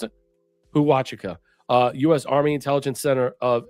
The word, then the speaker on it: Huachuca: Air Force, especially Fort Huachuca.